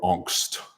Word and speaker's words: Angst: on impressionable teenage boys filled with angst, or angst, as the Germans would pronounce it.